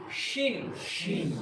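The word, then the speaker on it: شين: scene scene শিন শিন একটা ছোট করে হালকা করে সিন সিন একটু মোটা করে জীবটাকে একটু টাকড়ার সঙ্গে চেপে দিয়ে বলেন শিন শিন সিন সিন শিন শিন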